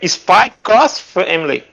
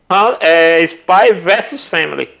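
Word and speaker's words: Spy × Family: Porque geralmente o X lá de versus, eles pronunciam cross. Exatamente. Tem os games, né? Capcom Cross, X-Men Cross, Namco, né? Você for ver a pronúncia em inglês, sempre vai ser essa. Então, adaptando para o português, seria o mais correto mesmo seria Spy versus Family.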